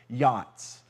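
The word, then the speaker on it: יעץ: second one is is a Hebrew word that's pronounced roughly like this Yachts so say pale Yachts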